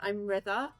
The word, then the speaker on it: Rida: I'm Ritha, and you pronounce it like rhythm. So rhythm, Ritha.